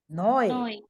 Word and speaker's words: neu: Whenever EU comes together, this combination is pronounced as OE.